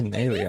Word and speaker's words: Fontanalia: And you're a director Fontanalia. this time. That's how you pronounce it.